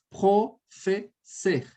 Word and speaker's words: professeur: Professeur. Esse ser, Bia, você vai colocar um leve biquinho.